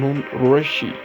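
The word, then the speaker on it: Nund Rishi: At last, it is a famous quotation said by Nundurishi, Kashmiri pronunciation Nundurishi, was born on 1377 after 1438.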